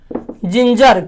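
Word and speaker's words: ginger: क्यों बोलते हैं, यहाँ जी के बाद आई है और यहाँ जी के बाद ई है। आई और ई यदि आता है तो इसका उच्चारण हो गया जो, यानी जिंजर।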